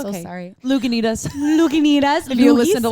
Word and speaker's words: Lagunitas: Oh, I pronounced it It's wrong. okay. I'm it's so okay. sorry. Lagunitas.